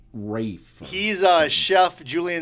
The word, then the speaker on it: Ralph: would know from sh it's actually said Rai fines That's What It Is Well Ralph so anyways it's spelled Ralph but it's Rafe he's a chef Julian